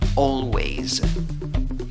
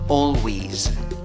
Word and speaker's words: always: pronunciar la palabra always on ways ahora según el diccionario merriam-webster hay otra posible pronunciación cuál es la otra pronunciación o wish o wish con el sonido de